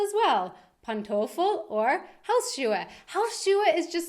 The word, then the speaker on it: Pantoffel: should start calling them Pantoffel as well. Pantoffel or Hausschuhe. Hausschuhe is just so great because it's literally house shoes, Hausschuhe. I mean, what is Pantoffel? Rhymes with Kartoffel, kind of. Not really.